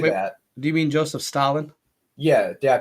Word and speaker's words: Stalin: Do you mean Joseph Stalin? Yeah, did I pronounce it wrong?